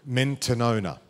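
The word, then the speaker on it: μετάνοια: Repentance stems from a Greek word, as we know the word repentance, from the Greek word mentanona.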